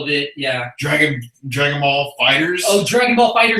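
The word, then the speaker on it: FighterZ: No, Dragon Ball Fighters. That's what it is. Z. No Z. With a Z at the end. It's a Z at the end, but you don't pronounce the Z.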